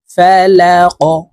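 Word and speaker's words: الْفَلَقِ: রব্বিল কুল আউজুবি রব্বিল ফালাক এই কফকে ধাক্কা দিয়ে উচ্চারণ করতে হবে কফ যেহেতু কলকলার হরফ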